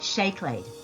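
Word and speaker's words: seacláid: it looks like see play that is actually pronounced shake laid for chocolate now you will notice that the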